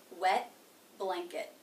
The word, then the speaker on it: wet blanket: So it's going to be a stop. Wet blanket. What does that mean? That means I put my tongue up into position for the T, wet, wet, but I don't release the sound.